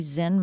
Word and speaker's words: Zen: The word you you mentioned Zen masters. So uh Zen is a is the Japanese pronunciation of the Chinese word chan.